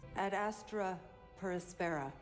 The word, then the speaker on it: Ad Astra per Aspera: position one day I had been warned yes at Astra perspara I said it right to the Stars through